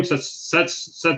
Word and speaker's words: Setsuna: Setsuna.